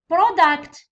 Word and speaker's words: product: Product كلمة اسم. اسم فيه two syllables. هاو syllable الأول وهاو الثاني. Stress في الأسامي اللي فيهم two syllables يجي في الأول. Pro. Product.